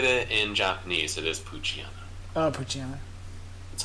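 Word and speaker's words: Poochyena: you look at it in Japanese, it is Puchiana. Oh, Puchiana. That's how you pronounce it.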